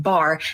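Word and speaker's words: בר: Earlier, we discussed how Beit and Resh together is pronounced bar, which means son.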